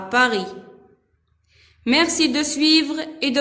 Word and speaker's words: Paris: dans le mot Paris. S à la fin ne se prononce pas. C'est une lettre muette.